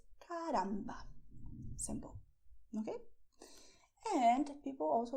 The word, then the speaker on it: caramba: Okay, it's not caramba, it's caramba.